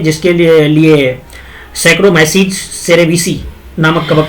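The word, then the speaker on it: Saccharomyces cerevisiae: बनाने में जिसके लिए सैक्रोमाइसीज सेरेविसी नामक कबक का प्रयोग किया जाता है। सैक्रोमाइसी सेरेविसी देखो मेरे प्रोनाउंसिएशन पे ध्यान रखना है क्योंकि ये थोड़ा प्रॉब्लम दिया है पीडीएफ। सैक्रोमाइसीज सेरेविसी होता है, सेरेविसी।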